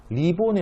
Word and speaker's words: 리본: 왜냐면 리자로 시작하면은 리본이 아니라 이본이라고 해야 되는 거 아니야? 라는 문제가 나왔어요. 근데 어째서 리본 그대로 발음하죠? 왜냐면 리본 같은 경우는 이 한자음이 아니기 때문에. 그죠? 리본은 외래어이기 때문에 네이버 검색하면 영어로 나와요. 그렇기 때문에 얘는 두음 법칙 적용 대상이 안 됩니다.